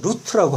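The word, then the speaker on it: רות: 룻은 또 히브리어로 루트라고 하고요. 원래 발음은.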